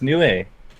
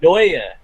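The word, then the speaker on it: Neue: No, Comic Sans Nue. Yeah, Comics. Nue. Actually, Is it oh, Nue? dude. I always told it was No, it's no, pronounced no. Noi. It's Noia.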